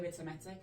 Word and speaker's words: Vitametik: It's difficult because in in German it would be pronounced different. Yeah. So in German we would say vitimetic and I tend to pronounce a vitimetic but most of